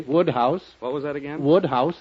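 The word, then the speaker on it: Wodehouse: what was that again woodhouse that's how it's pronounced you see i've been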